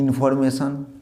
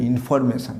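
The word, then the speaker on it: information: ইনফরমেশান। Normal আমরা সবাই হয়তো ঠিকঠাক উচ্চারণ করি না, এটা উচ্চারণ ইনফরমেশান না, ইনফরমেশন। এটা হস্যই হবে, ইনফরমেশন।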